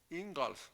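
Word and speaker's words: Ingalls: muy ricos pero Tenían un buen pasar los ingals así se pronuncia bueno eh Tenían un buen pasar pero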